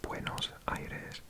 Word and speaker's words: Buenos Aires: Montevideo but the capital of Argentina and brutal pronunciations of that over the years but yet literally the Clean Air the good air Buenos Aires next up if I tell you that the